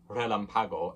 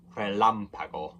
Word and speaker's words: relámpago: With the accent on the first A, that's where you put the stress. So it's not relámpago, it's relámpago.